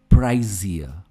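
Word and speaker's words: pricier: यहां पे जो एस है इसकी प्रोनंसिएशन ज की तरह आती है, प्राइजियर. हम एंड में आर प्रोनाउंस नहीं करते, प्राइजियर.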